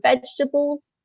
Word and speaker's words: vegetables: about the pronunciation for vegetables so the second e is silent we then look at